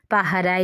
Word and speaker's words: পাহারায়: এইখানে উচ্চারণটা দেখতে হবে, নিবিড় পাহারায়। নিবিড়ে কিন্তু ডয়শূন্য র, আর পাহারায় বয়শূন্য র, নিবিড় ডয়শূন্য র।